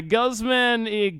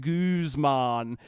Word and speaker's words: Guzman: But yeah, Guzman Gomez. I guarantee that's like how like 90% of Australians would say it. No one is calling this this company Gooseman. Like not a single person from Australia would be aware of the correct way to pronounce this.